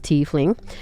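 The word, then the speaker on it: tiefling: A teling, pronounced teling, is Why did I read that?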